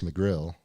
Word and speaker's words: McGrail: And Chris McGrail, like the cup.